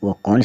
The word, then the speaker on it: walk: फिर हम देखें एल अल्फ़ाबेट जो है वो कौन से वर्ड में, कौन से वर्ड्स में साइलेंट रहता है।